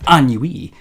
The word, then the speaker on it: ennui: So according to dictionaries on both Google and Bing, ennui. Yeah, so there we go. Ennui.